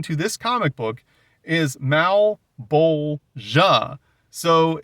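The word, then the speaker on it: Malebolgia: The correct pronunciation according to this comic book is Malbolia. So it's not Mabula. The L is pronounced. It's Malbula.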